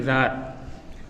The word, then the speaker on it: Tsar: Two spelling for Tsar, Czar and Tsar, but pronunciation is same, Tsar.